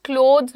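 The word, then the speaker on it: clothes: Pronunciation का ध्यान रखना। क्लोथ्स बोलते हैं।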